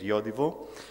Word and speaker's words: Yodiwo: year with the name Yodiwo, trying to explain where this pronunciation comes from, which is a Swedish-based pronunciation. So the name is Yodiwo.